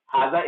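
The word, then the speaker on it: هذا: Haza is pronounced with alif but it is written without alif.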